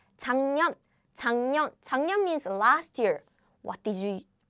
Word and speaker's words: 작년: So 작년, letter by letter. 작년. However, in real life, we pronounce 작년.